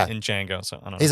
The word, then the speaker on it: Django: oh uh the the the D is silent in Jango so I don't he's